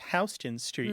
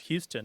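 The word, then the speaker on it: Houston Street: the classic one in New York City is hon Street and as a Tex and you probably appreciate that many people from the rest of the country assume that it's pronounced Houston as in Sam Houston U but it isn't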